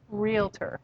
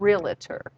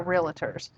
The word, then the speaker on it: Realtor: has but one pronunciation realtor that's two syllables it's not realtor and i can tell